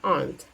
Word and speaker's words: aren't: Jadinya aren't. These aren't. Ada bunyi T meletus di ujungnya ya. Aren't.